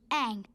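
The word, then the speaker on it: Aang: Ang. That rhymes with Mang.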